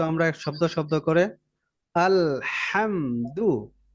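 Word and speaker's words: الحمد: ওকে এবার দেখি তো আমরা শব্দ শব্দ করে আলহামদুল হাটা গলায় মাঝখান থেকে চাপ হয় যখনই আসবে এভাবেই হবে আলহামদু লিল্লাহি এইযে খাড়া জবর আছে না এটা যেখানে থাকবে ওখানে এক আলিফ লম্বা আলহামদ আলহামদুলিল্লাহি আলহামদুলিল্লাহ ওকে আলহামদ এখানে ধরে রাখা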